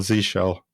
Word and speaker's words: zsh: How do you pronounce? Oh, there's a Reddit. Of course there is. Yeah. So ZSH or Z shell.